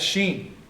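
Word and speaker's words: shin: Now, we know it's sheen because remember I said, if the dot is on the right, it's pronounced SH. If the dot is on the left, it's the S.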